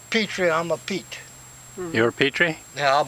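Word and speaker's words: Pitre: Petrie, I'm a Pete. You're a Petrie? Yeah, I'm a Pete. A Pete? P-I-T-R-E. It's spelled Petrie, but it's Pete. Enunciated as Pete.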